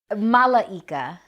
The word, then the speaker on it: Malaika: your name I'm sorry Malaika oh four syllables you're almost a gypsy